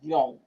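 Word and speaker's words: Jung: Yung.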